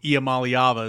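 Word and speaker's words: Iamaleava: yards and uh just you know with Nico IAM malava is how you say his name of course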